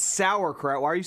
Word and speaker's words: sauerkraut: We say it's sauerkraut, but it's not spelled that way.